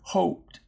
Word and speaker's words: hoped: got this right because notice the difference between hopped hopped and hoped and again the difference is is consonant closes this syllable and makes that oh short so that's a closed syllable and the O here's at the end of the syllable so we call that an open syllable and that will be the word hoped they look a lot